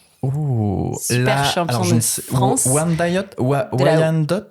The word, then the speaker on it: Wyandotte: Wyandotte. Alors en français on va dire Viandotte. Voilà. Ok. Mais effectivement il y a différentes. Alors effectivement c'est américain, donc ça se prononce effectivement de différentes manières.